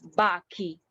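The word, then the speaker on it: bacchi: um okay for example this one bachi when there's an akka in between so this pronounces baki okay so this is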